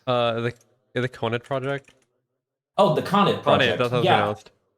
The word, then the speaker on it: Conet Project: Conan Project? The Conet Project. Oh, the Conet Conet. Project. That's how it's Yeah.